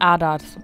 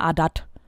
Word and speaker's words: Ardath: Und jetzt reden wir mal mit Ardath. Oder ich sag immer Ardath, weil ich immer denke, das TH wird so ausgesprochen. Aber in dem Fall ist es mal Ardath.